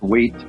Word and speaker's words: weight: spelling don't forget okay words with silent G okay like weight and height okay the G and H or silent weight okay so remember the GH silent G also another rule okay